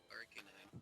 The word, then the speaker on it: Arcanine: Arcanine, pronounce things correctly, thought. It's Arcanine, that's how you say it.